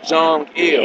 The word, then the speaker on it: Kim Jong-il: Kim Jong-il.